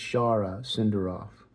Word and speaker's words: Shara Senderoff: it different way so what you have to do is pronounce it in the way that other people pronounce it so to me it's Shara Cinder off so um when you